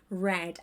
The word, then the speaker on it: read: It's a little confusing because read is exactly the same in its past participle form, but the pronunciation is read. I had read. You had read.